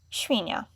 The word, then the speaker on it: świnia: Si, świnia. Si, siano. Zi, źrebak. Zi, ziarno. Again, good to know is the accent above the letter makes it sound the soft sound, and the sound is short. So just remember, practice, listen to it, repeat it.